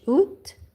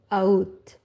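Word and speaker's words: août: You can pronounce in French oot or aoot. I prefer oot.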